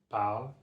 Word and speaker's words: parle: And when you actually use the verb in a sentence, you have to drop this I sound from the ER. Drop the I sound and it becomes parle.